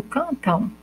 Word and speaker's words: cantam: Quando eu digo cantam, parece que eu estou falando, pronunciando U no final, cantam, né?